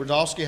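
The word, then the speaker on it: Rudofski: rodofsky that's r-u-d-o-f-s-k-i and it's pronounced Rudolph and then ski all right special agent rodolski how you doing today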